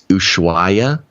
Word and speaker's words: Ushuaia: I think it's Ushuaia is the southernmost city to go through in Argentina to get to Antarctica.